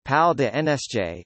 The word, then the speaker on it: Palais des Nations: The Palace of Nations, French, Palais des Nations, pronounced Pal de NSJ, is the home of the United Nations office at Geneva, located in Geneva, Switzerland.